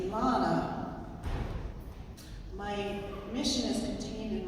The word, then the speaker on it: Elana: contains my mission um it's pronounced Elana which is a Hebrew name that means uh it's